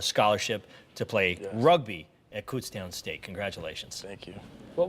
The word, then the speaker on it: Kutztown: from that night is the how to pronounce Kutztown it's cstown I said it right